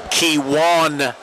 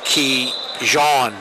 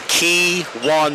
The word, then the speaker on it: Kiwan: Just want to make a pronunciation correction. Team 9 from Indian River, Delaware. He wears number 45, Kiwan Major. I guess I was calling him Kijan Major. Kiwan Major. So there you go.